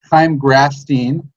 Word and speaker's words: Chaim Grafstein: I'm super duper stoked to have first-time guest on Chaim Grafstein. I pronounced that correctly?